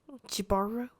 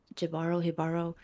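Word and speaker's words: Jíbaro: But you know how in Spanish it's ja ja ja as ha ha ha. That's why Yeah. I was like, is the J the H?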